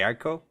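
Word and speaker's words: Eiko: he I co a ICO yeah ICO because you'd pronounced both of the vowels so it'd be like hey ICO yeah when you're first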